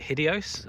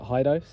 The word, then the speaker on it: Hidoes: Some people I've known have pronounced it Hideos. I choose to pronounce it Hidoes.